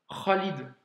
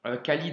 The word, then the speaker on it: Khalid: Tu l'as aussi dans le prénom Khalid, tu vois? Khalid en français, mais quand tu le prononces en arabe, c'est Khalid, tu vois? C'est ce son-là.